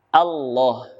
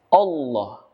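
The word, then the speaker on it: الله: adalah pada kalimat Allah harusnya dengan kalimat Fatah bibirnya terbuka dengan jelas a Allah namun yang sering terjadi adalah membacanya seperti huruf u Allah dengan memajukan bibirnya atau membentuk bulatan pada bibirnya Allah ini adalah sebuah kekeliruan harusnya dengan tidak memajukan bibir Hai namun membuka mulut dengan lantang a Paulo bukan Allah yang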